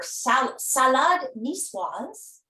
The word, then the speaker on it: salade niçoise: Well, we're going to start making in a minute here her salade niçoise. I hope I pronounced that Wonderful.